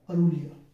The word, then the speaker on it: Aurelia: मैं एक बार स्पेलिंग देख लेता हूं, AURELIA, अरूलिया, ठीक है।